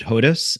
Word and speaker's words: Hodes: actually both correct uh my grandfather pronounced it hodus and my father pronounced it hodess so I grew up